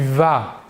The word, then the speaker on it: vas: à la première personne je vais à la deuxième personne tu vas nous voyons ici que pour les deux premières personnes le s final ne se prononcent pas pour la troisième personne